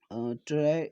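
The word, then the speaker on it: Terai: और आप थोड़ा सा ये ध्यान देंगे, ये जो टेराई वर्ड है, टेराई एक्चुअल में बोला जाता है इसे, इसका प्रोनाउंसिएशन पे भी ध्यान देंगे।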